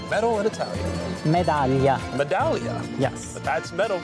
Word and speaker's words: medaglia: Medaglia.